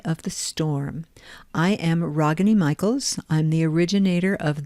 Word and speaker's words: Ragini: Okay, it is pronounced Ragini with the ah sound from the heart. Ragini.